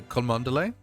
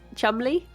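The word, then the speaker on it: Cholmondeley: What the I would say seeing at it, I would say Kanderlay. No. Why? What is it pronounced? You're going to be so angry. Yeah. Okay. It's Chumley.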